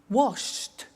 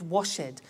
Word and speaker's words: washed: the T danced laughed washed and walked ok now the temptation is to say watch it dan said the laffed wash it but we eliminate the e and we add T ok watched danced good